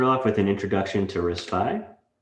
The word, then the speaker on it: RISC-V: with an introduction to risfy first off it is pronounced risk five and it started as